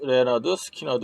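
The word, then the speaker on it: Lynyrd Skynyrd: 위해 철자를 이렇게 바꿉니다 그들의 첫 대뷔 앨범명은 프러스 레너드 스키너드 있니다 철자가 어려워서 읽는 발음을 앨범으로 알려준 것이죠네 여기까지 남한 공금의 2편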